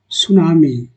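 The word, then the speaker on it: tsunami: अब मेरा दूसरा जो है सुनामी, टी सुनामी लिखा है लेकिन टी साइलेंट दोस्तों, ये सुनामी है। इसका हिंदी जो होता है सुनामी, सुनामी, इसमें टी साइलेंट दोस्तों।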